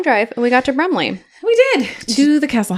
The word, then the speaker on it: Brumley: and we got to Brumley we did to the castle house do you want to hear about Brumley I would love to hear about brle Yes again I'd love to it rhymes with crumble that's all I can